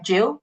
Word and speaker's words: Gill: Um, and just to tell you that my name is spelled with a G. So, Jill, G I L.